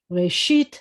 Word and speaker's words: Reshit: Reshit, the accent's on the second, the last, not second, but the end of the word.